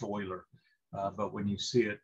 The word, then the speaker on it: Euler: a mathematician by the name of leonard mueller's pronounced euler but when you see it in the uh